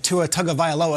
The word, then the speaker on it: Tagovailoa: First, I want to shout out Richard for the pronunciation of Tua Tagovailoa.